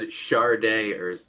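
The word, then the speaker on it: Sade: also said Charday earlier. I Which did. I hear a lot of people say. Well, it's funny. Columbia fucked that up because on their Charday. first album it says pronounced Char day, and they fucked it Yeah.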